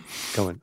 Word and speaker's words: Cohen: And am I pronouncing that correctly? Yeah. Cohen.